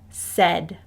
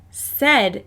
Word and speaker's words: said: high frequency word is said said is a really tricky high frequency word because we hear the e sound in the middle but it's actually spelled s-a-i-d you will see this